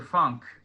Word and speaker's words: Funk: We need to find Walter Funk. Oh shit. Funk or Funke? Funky. It says Funk here. F-U-N-K, Funk. Is that not the correct pronunciation? It's Fu-nk.